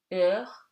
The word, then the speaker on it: heure: Okay, and something very easy, H is always silent. Au, haricot, heure, dehors.